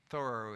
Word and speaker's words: Thoreau: henry thor who lived thorough is the correct pronunciation by the way who